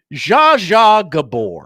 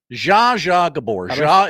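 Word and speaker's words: Zsa Zsa Gabor: Za Gabbor. Who? Za Gabbor. Is spelled Zsa.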